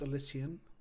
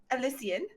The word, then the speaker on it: Elysian: Excuse me, it's pronounced Elysian. Elysian.